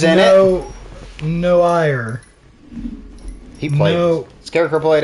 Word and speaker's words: noir: new new hire new because it's pronounced noir just like no i believe the uh